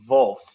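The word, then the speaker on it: Wulf: it's wolf w-u-l-f-w-u-l-f and I think it's wolf like that's how I would I mean it's also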